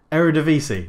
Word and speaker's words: Eredivisie: 2-1 against the Vitesse, who are in the Arrivederci. No, that's Italian for goodbye. I know how to pronounce this name. Eredivisie, that's it.